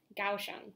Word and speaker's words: Kaohsiung: the west coast to Kaohsiung, which is pronounced nothing like it looks because you'd think it starts with a G, but it does not.